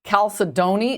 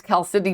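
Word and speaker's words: chalcedony: I heard it pronounced Calcidoni. And I'm like, "Oh, this person must know what they're talking about." So that's what I called it. And then he's like, "No, it's Cal Sydney."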